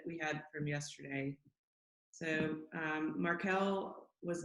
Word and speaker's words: Markel: And I always pronounced it Markle until I called and spoke with an agent and they said, "Hello, thank you for calling Markel." And I was like, "Oh, I've been saying your name wrong all along. I thought it was like Meghan Markle."